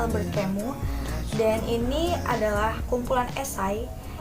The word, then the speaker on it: Alberthiene: kota-kota tanpa masa lalu Karya alberthiene Jadi ini bacanya Albert kamu dan ini adalah kumpulan